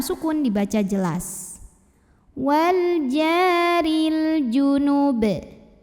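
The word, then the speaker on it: جُنُب: Wal jaril junub. Apabila berhenti di sini, baknya disukunkan dan dihukumi dengan qalqalah kubra karena huruf ba-nya sukunnya tidak asli melainkan kita sukunkan. Maka dibacanya dipantulkan dengan pantulan yang besar.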